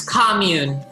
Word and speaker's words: commune: Sheila, it's commune.